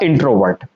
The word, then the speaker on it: introvert: ठीक है ना, VURT, इसको वूट नहीं बोलेंगे, वर्ट बोलेंगे। क्या बोलेंगे? वर्ट। तो ये क्या होगा? इंट्रोवर्ट।